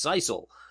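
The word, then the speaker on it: sisal: how to pronounce it it is pronounced Cil Cil I think I even spelled it wrong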